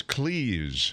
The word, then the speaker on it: Cleese: So, So it's Cleese. Yeah. Okay. But also, if you think about it, I mean, that's how you'd pronounce any word that's spelled like that. Right. I guess there isn't Except another Reese's one. But like peanut butter Cleese. cups. It's not like fleece But with a C.